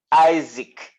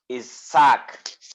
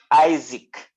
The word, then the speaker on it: Isaac: actually this is pronounced isaac in english it may look is sack but the pronunciation in english is isaac i-s-a-c is isaac in